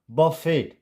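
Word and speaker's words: buffet: ballot it's ballet and this is नॉट अ बफेट इट्स बफे बफे and this is जी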